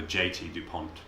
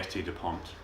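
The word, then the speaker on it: S.T. Dupont: of the tip videos I called a JT DuPont because I misread it. I'm sorry, ST DuPont.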